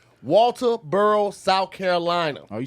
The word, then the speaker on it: Walterboro: Walterboro, South Carolina.